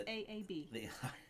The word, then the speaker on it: Saab: Or S-A-A-B.